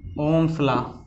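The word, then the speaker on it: Ohm's law: Potential difference, विभवांतर के बाद में प्रतिरोध, जिसको रेजिस्टेंस कहते हैं, और फिर आप पढ़ेंगे ओम का नियम, ओम्स लॉ। इसमें एच साइलेंट है, ओम्स लॉ।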